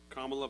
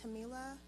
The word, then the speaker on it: Kamala: Kamala. Hi, it's pronounced Camila, but you can call me.